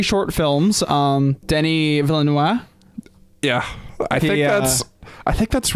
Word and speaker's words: Villeneuve: Denis Villeneuve. Yeah, I think that's right. Though I read online, we should have a special pronunciation episode. I read online the V is not silent. Denis Villeneuve.